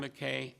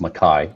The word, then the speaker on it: McKay: so yes sorry Mr McKay um if you could please uh give us your name and your address and then short presentation please sure it's actually uh pronounced maai Ma I I guess I guess